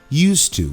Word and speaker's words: used to: Used to. Você viu que tem esse D aí? Mas normalmente a gente fala used to. A gente não pronuncia esse D.